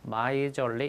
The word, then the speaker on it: miserly: 발음 주의하시고 얘가 miser가 구두쇠입니다. 명사 플러스 ly는 형용사이기 때문에 발음도 miserly 이렇게 발음해야 됩니다.